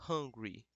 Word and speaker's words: hungry: O hungry, a pronunciação é como se fosse esse A. Hungry.